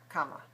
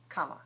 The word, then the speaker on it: comma: period comma question mark comma quotation marks comma comma comma so what is it equal area comma two syllables which one is reduced comma which one is